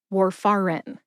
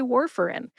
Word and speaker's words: warfarin: If you said it exactly like it looks with your eyes, it would sound like Warfarin. Warfarin. We say Warfarin. So my advice is just slur the fur and in together and say Warfarin.